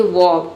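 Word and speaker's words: verb: यहाँ पे आप ध्यान देंगे तो दोनों लेटर साइलेंट हो जाता है, ई भी और आर भी। क्या हम केवल हम पढ़ते हैं वॉव, ठीक है, वॉव, लेकिन आधा र का साउंड दे सकते हैं, आप चाहें तो साइलेंट भी रख सकते हैं।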